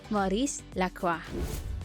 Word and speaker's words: Maurice Lacroix: hardest to pronounce Brands just be careful that the eggs at the end doesn't need to be pronounced this is Maurice Lacroix number six Breitling the